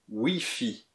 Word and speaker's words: Wi-Fi: L'accès Internet ou Wi-Fi est prononcé en français Wi-Fi.